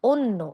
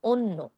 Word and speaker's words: অন্য: তারপর অন্য, অন্ন হবে না, কি হবে? অন্য।